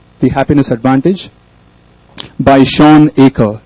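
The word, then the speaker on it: Achor: The Happiness Advantage The Happiness Advantage by Shan AER s h a w n a c h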